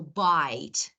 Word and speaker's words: bite: This is bit. I want to add E. This vowel is I, so bite.